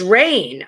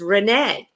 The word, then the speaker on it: Renee: many many years and i always thought her name was rain r-e-i-n-e but she has now after all these years corrected me and her name is renee i did not know